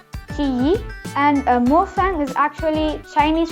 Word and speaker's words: Qiyi: Here it says Qy, but I don't know, for some reason we just pronounce it Qiyi.